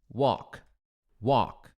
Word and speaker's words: walk: Esse L não é pronunciado. Você vai falar tipo assim, ó. Walk, walk, ok?